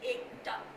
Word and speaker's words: Ekta: My name is Ekta. It's spelled as E-K-T-A.